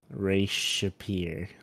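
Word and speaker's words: Re-Shephir: I had RE apostrophe SHAPIER. Ray Shapir. Like literally it's spelled like a peer.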